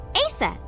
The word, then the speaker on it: Aset: is named Isis but in ancient Egyptian it's pronounced closer to ISA or aset H how do I